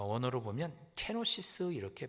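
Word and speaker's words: κένωσις: 여기 자기를 비워 종의 용찰를 가졌다 할 때 자기를 비워 7절에 있는이 자기를 비우다는 말이 어 원어로 보면 케노시스 이렇게 발음을 합니다.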